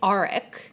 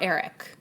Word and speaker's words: Arik: It's Arik, not Eric.